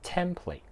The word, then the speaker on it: template: 样板呢、这个字读 template，注意个重音咧系喺第一个音节度嘅 template，值得欣赏的。